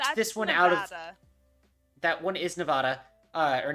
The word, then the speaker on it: Nevada: Nevada. That one is Nevada, or Nevada. Excuse me. Nevada. No, because it is actually pronounced Nevada, but I pronounced it Nevada my whole life, so I'm like Same.